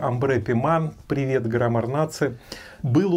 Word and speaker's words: Ambre Pimente: не понравится отписывайтесь Итак амре Пимен Я знаю что правильно по-французски произносится Амбре пиман Привет рна Был у